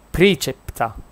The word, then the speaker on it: praecepta: A parte che è latino, perché non è pre, è praecepta, quindi è precepta.